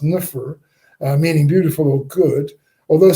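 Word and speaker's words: nfr: They had this thing which is pronounced nufr, meaning beautiful or good.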